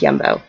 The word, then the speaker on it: Jumbo: It looks like jumbo, but it's pronounced Yumbo.